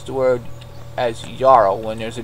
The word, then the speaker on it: jarl: pronounce the word as yarrow when there's a j would be like jarl you pronounce it like it's got a y yeah well i guess